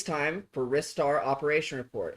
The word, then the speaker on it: Ristar: It's time for Ristar Operation Report. It's pronounced Ristar. There's no debate in Japan. It's because he uses his wrists to fling him around.